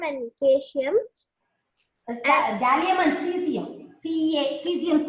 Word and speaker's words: caesium: Cesium spelling. C-A-E-S-I-U-M. Cesium. Okay, ma'am. A is silent.